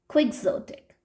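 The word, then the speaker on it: quixotic: क्विक्सोटिक pronunciation is क्विक्सोटिक, adjective की तरह work करता है ये क्विक्सोटिक।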